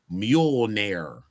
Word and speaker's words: Mjolnir: Ebony Leopard said Mjolnir is how you say it. Mjol like a donkey and nir like the hair removal.